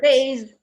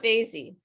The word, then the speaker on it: vase: Vase. Pardon? Vase. I have a vase. Vase. Yeah. Vase. It's not vasy.